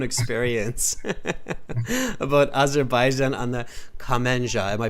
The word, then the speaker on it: kamancha: It sounded like you were reading Wikipedia with your own experience about Azerbaijan on the Kamenja. Am I pronouncing it right? Kamenja? Yes, Kamancha.